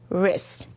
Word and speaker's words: wrist: Like, here's my wrist. Good. Does it have a silent letter? Yes, because there's a W R, but it only says, "ruh."